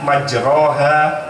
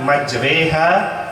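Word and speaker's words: مجريها: Ada di dalam Al-Quran satu ayat yang berbunyi tulisannya Bismillahi majroha wa mursaha, tapi dibacanya Bismillahi majreha wa mursaha.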